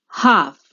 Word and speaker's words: half: Half. The silent letter is L.